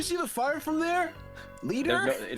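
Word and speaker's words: Leder: Leader. It's pronounced leader, but it's spelled All right.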